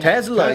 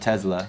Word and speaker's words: Tesla: you get a tesla why do you guys keep saying it like there's a z tesla yeah that's how you say it that's how elon says isn't it i think that's like the uh american way but i think the original way is that tesla yeah like we say